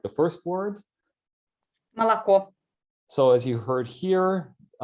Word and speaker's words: молоко: Молоко. So as you heard here, she did not pronounce the three vowels the same way. This is the reduction of unstressed vowels, which are very typical in Russian.